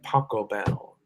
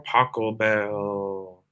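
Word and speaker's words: Pachelbel: canon in d by paco bell which rhymes with taco bell um a b c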